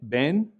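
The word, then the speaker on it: בן: The one on the left has the dagesh in it, ben, which means son, ben. And on the right, it lacks the dagesh and this word is pronounced tov, tov, which means good. Ben, tov, ben, tov.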